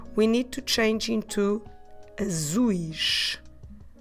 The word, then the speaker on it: azuis: about the eyes, we need to change into azuis. Azuis. I will spell it A-Z-U-I-S.